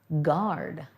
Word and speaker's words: guard: who protects us guard you can almost hear both the u and the a when we say guard it's got a little bit of a movement to the word it's not one sound there guard there aren't very many words that have these slurs but this one does guard land remember here